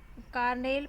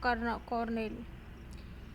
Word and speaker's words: colonel: Its modern pronunciation Carnel probably comes from an alternative from for, formerly in use Cornell.